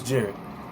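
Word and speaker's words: Jered: what my name is right my name is jared j-e-r-e-d and it's pronounced just how i just said it i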